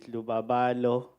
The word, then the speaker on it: Lubabalo: uh listened to uh my name is lubabalo um Bey I'll forgive you for the pronunciation thank you very much it's not only you um so in South Africa everyone calls be Luba because it's also difficult for them Luba is easier yes Luba is easier